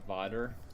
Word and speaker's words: Vader: variation dark yeah in in Dutch Vader is you know it's spelled that way but it's pronounced Vader which kind of if you think about it father botter makes sense but um makes